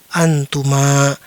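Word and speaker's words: أنتما: Sekarang ada mimnya dan alif di belakang, dia dibaca antuma.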